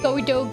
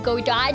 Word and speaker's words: Godot: I know Chiaki has started calling him Godo Godot just to get both pronunciations.